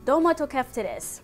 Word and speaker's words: Domatokeftedes: I'm gonna botch the name if I try to say it in Greek, but the phonetic pronunciation I'm looking online, it's Domatokeftedes. I tried listening to it a bunch of times, but I feel like I might still be getting it wrong.